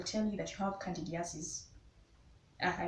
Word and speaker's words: candidiasis: you they will tell you that you have candidiasis i pronounced that right candy assist yes and when you have a yeast infection